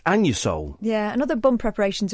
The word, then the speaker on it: Anusol: It's pronounced Anusol.